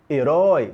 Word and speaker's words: herói: ser um ditongo e olha a pronúncia herói a não ser oi não é hoje pronúncia Oi então nós temos ali um ditongo aberto Oi posição na última sílaba